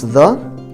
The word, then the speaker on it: the: helena embellish normally we pronounce the when it comes before a consonant sound as a short sound the the so this